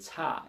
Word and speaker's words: tager: Jeg tager, that's how we pronounce it.